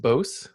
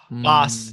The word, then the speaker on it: Bos: Is it just Bos? Nope. Boss. Yeah, it's Boss, like double S.